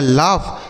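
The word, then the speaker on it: laugh: आगे लिखा है एल ए यू जी एच। तो एल से पढ़ते हैं आपका ल और ए के साथ यू रहेगा तो औ का उच्चारण ल हो गया और जी एस से पढ़ेंगे फ यह लिखा है लाफ लाफ का मतलब होता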